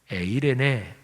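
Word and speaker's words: εἰρήνη: 구약 성경의 원어인 히브리어로 말하면 샬롬이고, 신약의 원어인 헬라어로 말하면 에이레네, 이렇게 발음되는 단어입니다.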